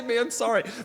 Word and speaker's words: Mansory: All right, so Mansory, and that's actually how it's pronounced, is man. The pause, I think, is optional, then sorry. Mansory has the new Ferrari SUV.